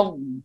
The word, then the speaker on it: الضالين: هنا لا يوجد غنة، لا نقول ولا الضالين، هنا ابتداء غنة، يعني هنا تشديد فقط. ولا الضالين ضالين هكذا. ليس الين، ابتداء غنة تشديد فقط.